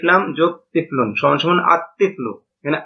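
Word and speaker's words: الطِّفْلُ: তিফলুন আলিফ লাম যোগ তিফলুন সমান সমান আতফলু এখানে আল তিফলু এটা গলত উচ্চারণ লামটা উচ্চারণ হবে নাভাবে রজলুন আলিফ লাম য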